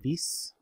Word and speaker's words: Vis: Vis rhymes with fleece.